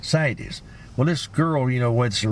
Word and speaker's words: CITES: Cities or sites? It's a CITES tag. CITES.